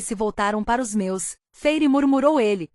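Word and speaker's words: Feyre: Ela fixou os olhos arregalados em mim e falou, por favor, Feire. Elaine pronunciou as 2 sílabas de meu nome, Feire, com o choro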